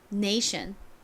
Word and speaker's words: nation: 발음은 어떻게 되나요 nation이죠 네이션 tion 부분이 션 소리가 나죠 그리고 na가 a 소리가납니다 자 한 번만 따라해보고